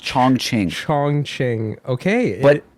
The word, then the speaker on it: Chongqing: a and a q i n g it's pronounced chong ching chong ching okay but c h o n